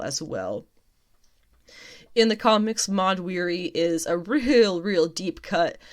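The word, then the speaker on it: Mahd Wy'ry: Thena developed Mind Weary, which I'm pretty sure I just pronounced right. Mod Weary, that's right, that's what it was.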